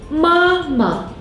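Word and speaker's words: 妈妈: 妈妈 means mother. The second syllable is a neutral tone.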